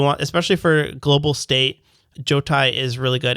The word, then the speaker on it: Jotai: Jotai, yeah. Jotai. Yeah. Two syllables.